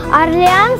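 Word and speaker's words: Orléans: А так как по-французски буквы сочетания А и Ю читаются как О, то со временем в разговорной речи Аврелианом стал произноситься как Орлеан.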